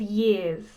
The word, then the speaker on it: years: When she says years, does she say it like me? Years. No, not quite. She uses a Russian R, a rolling R.